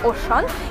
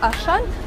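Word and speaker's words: Auchan: получился из французского магазина ошн или же по-русски Ашан Дада именно так у них произносится это название магазина он Вы наверное сейчас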